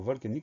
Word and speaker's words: volcanique: Première syllabe, vol, V-O-L. Deuxième syllabe, K, C-A. Le son K est obtenu grâce au C. Syllabe suivante, ni, N-I. Dernière syllabe, que, Q-U-E. Donc pas de piège dans le mot volcanique, V-O-L-C-A-N-I-Q-U-E.